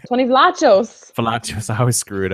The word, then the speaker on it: Vlachos: Like, I mean, I feel like Tony Vachos, how do you say his name? Tony Vlachos.